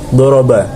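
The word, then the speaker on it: ضَرَبَ: Contohnya seperti kata doroba, nabar atau penekanannya dibaca awal kata, yakni berada di huruf dot, diucapkan lebih kuat dibanding dengan fonem sesudahnya.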